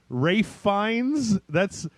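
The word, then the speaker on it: Ralph Fiennes: Rafe Fiennes?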